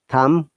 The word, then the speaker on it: thumb: but yet peace island in plumbers remember that thumb thumbs up tom thumbs okay so this is